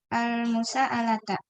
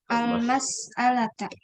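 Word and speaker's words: المسألة: Halal ustadu al-musa'alata. Almas, bukan mus. Oh, al-mas'alata.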